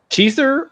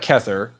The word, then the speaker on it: Kether: Keither or Kether? Wait. No, I said Keither first. Is it Kether? It sounds like Kether. There's no I in there.